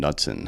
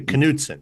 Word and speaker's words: Knudsen: General of Montana Austin nutson how's it going good it's actually kuden kuden man that's too many syllables kuden that's three um I think I